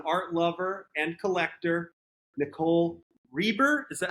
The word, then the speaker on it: Reber: Today, we have an incredible new guest, an art lover and collector, Nicole Reber, is that how we pronounce the last name? Yeah, Nicole Reber.